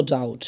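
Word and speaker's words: doubt: নো ডাউট মানে কি? কোন সন্দেহ নাই। নো ডাউট। নো ডাউট। এখানে বির উচ্চারণ হবে না নো ডাউট হবে না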